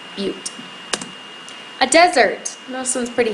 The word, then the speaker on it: butte: That's a butte. That's how you say it, butte.